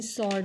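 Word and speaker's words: sword: विद्यार्थी मित्रांनो जो काही सॉर्ड मधील जो काही सायलेंट लेटर आहे तो आहे डब्ल काय आहे बघा डब्ल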